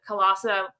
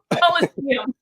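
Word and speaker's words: Colosseum: he was participating in the Colossum hackathon. And I was that. Oh my God. Coliseum. Clearly, I haven't had a lot of sleep either this month. That's cool. I put the wrong emphasis on the wrong syllable there.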